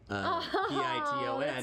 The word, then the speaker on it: piton: Beatgraphs, not .com _com said we did extensive research on the pronunciation of the word P-I-T-O-N. that's so sweet. According to the interwebs, it's piton. Piton. Ton, not ton.